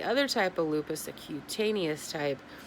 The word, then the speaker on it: cutaneous: It starts with a C, and I believe the proper way to pronounce it is cutaneous lupus.